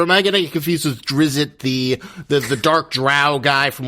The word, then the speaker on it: Drizzt: scared by him and calls him a Drizzt, and he's like, my name's Drizzt. And like we're like, oh, so like the writer's trying to tell the people how to say the character name.